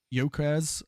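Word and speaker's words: Gyökeres: So, um pronounced uh Yokres.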